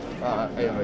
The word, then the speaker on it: Aota: So, do you pronounce that Aota? Aota, yeah.